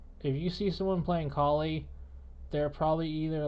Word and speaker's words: Kali: Kali, and yes, that's how you say her name.